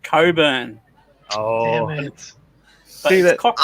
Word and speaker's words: Cockburn: In Australia, there's a cockburn. Yeah, but they pronounce it Coburn.